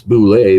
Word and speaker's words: Bullette: It's Boule because it's in Makandarin, the language of my world.